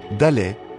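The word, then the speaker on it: ד: Quatrième lettre, Dalet, comme D.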